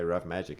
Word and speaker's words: Ruff Majik: And then at some point, then people come to you and they're like, how do we pronounce this? And we say Ruff Majik.